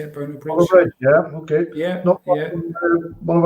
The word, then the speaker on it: Bonar Bridge: Bonar Bridge, yeah, okay.